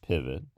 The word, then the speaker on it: pivot: have to say that the second syllable of pivot contains a vowel that is a schwa. It's written with an O because the word is borrowed from French, pivot, which is the French word for, well, pivot. But unlike the French from which it's borrowed, pivot, the word in English has an unstressed syllable.